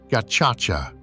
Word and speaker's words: Gacaca: In 2001, the new government revived a traditional dispute resolution practice, Gacaca, pronounced Gacaca.